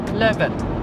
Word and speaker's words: Levin: 正確嘅發音咧應該就係叫做 Levin 或者係 Drano，咁即係行